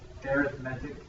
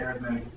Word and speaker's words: arithmetic: Arithmetic. Arithmetic is how it's pronounced. I know it says arithmetic, but they pronounce it arithmetic. It's the difference between a noun and an adjective.